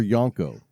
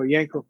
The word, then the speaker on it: Yanko: pronounce your name correctly is it Yanko or yonko no Yanko Yanko most most of people